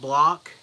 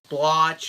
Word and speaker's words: Bloch: a guy named Robert Bloch. I think that's how you say his name. It's like Bloch. Could be Bloch or Block, but I'm pretty sure it's Bloch.